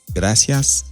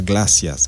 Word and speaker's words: gracias: Gracias a Dios. Est-ce que vous comprenez? Gracias, c'est pas glacias. Il y a monde qui dit glacias. C'est gracias.